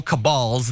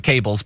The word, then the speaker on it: cabals: and rich, powerful, elite, evil cabals, then she would pronounce it cables, but then you must take down every enemy of the people.